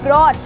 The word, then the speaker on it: brought: अगर मैं बोलती हूँ ब्रॉट, BROUGHT, ठीक है, तो यहाँ पर भी GH बेटा बीच में आया तो इसे भी हमने नहीं पढ़ा और हम केवल बोलेंगे ब्रॉट।